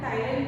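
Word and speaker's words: ptyalin: है salivary amylase enzyme, इसको हम टाइलिन भी कहते हैं। पी साइलेंट है, टाइलिन बोलेंगे।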